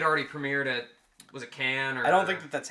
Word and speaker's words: Cannes: But Cannes. Can't whatever. There's no S. The S is silent. It's French.